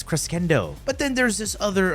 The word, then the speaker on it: crescendo: on melee Crescendo and people trying to teach me how to pronounce Crescendo did you guys go to school it's cresendo but then there's this